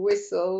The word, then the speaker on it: whistle: the word listen, and there's that lovely silent T in there, as in there's listen and castle and whistle.